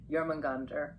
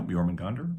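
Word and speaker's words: Jörmungandr: And of course, you can't forget about Thor, locked in this final epic showdown with Jormungandr, the monstrous serpent. Now that's a battle for the ages. Yeah. Yeah, Jormungandr.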